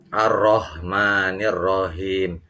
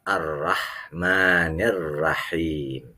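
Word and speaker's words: الرحمن الرحيم: ingat baik-baik di sini jangan kalian bacanya arrohmanirrohim itu keliru tapi yang benar arrahmanirrahim tipis hanya disini hak yang tipis yang maha pemurah lagi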